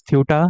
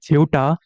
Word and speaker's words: Ceuta: why I'm calling this Ceuta, I just check the pronunciation on Google. So Spanish people uh, call it Ceuta, while according to British pronunciation, it is Ceuta.